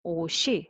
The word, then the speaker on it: 옷이: And but by the way, if following is e, like a zero consonant e syllable, then o, she. So s sound can be